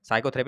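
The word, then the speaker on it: psychotherapy: बताना जरा क्या लिखा हुआ भाई, साइकोथेरेपी है ना, साइकोथेरेपी भाई है ना, साइकोथेरेपी में भाई पी साइलेंट है, साफ साफ पता चला। साइकोथेरेपी जैसे साइकोलॉजी में भी पी देखोगे साइलेंट रहते हैं, इस प्रकार से आप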